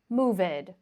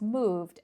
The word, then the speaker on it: moved: But, of course, it's useful for you to know that these verbs are not moved or lived, okay? That's incorrect. It's moved and lived.